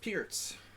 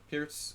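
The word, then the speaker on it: Pirc: it is pronounced pierce exactly pierce is uh was slovenian what would well today we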